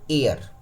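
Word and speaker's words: heir: ए एन लगा दीजिए इसको पढ़ते हैं एयर ठीक है ना हालांकि एच से शुरू हुआ है ठीक है ना लेकिन इसको पढ़ते हैं एयर तो ए हो गया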